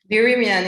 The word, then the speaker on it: Berimian: Berimian, it's a mix of French and English.